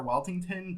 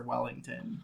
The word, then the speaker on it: Weltington: Originally, it's Sir Weltington, but now it's Sir Wellington.